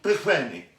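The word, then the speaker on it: Pillgwenlly: Pilgwenley.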